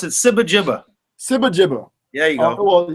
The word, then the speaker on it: SibaGiba: I pronounce it SibaGiba.